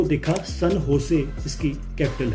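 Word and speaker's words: San José: आती है Costa Rica, जिसकी कैपिटल है सन होसे, पर इसको लिखने में आता है सैन जोसे, पर हमने इसको पढ़ना है सन होसे, जो इसकी राइट प्रोनाउंसिएशन है।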